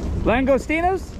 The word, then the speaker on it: Langostinos: Langostinos?